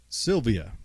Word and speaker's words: Sylvia: how do you say your last name Sylvia Sylvia okay that's that's what it's spelled like but I wanted to make sure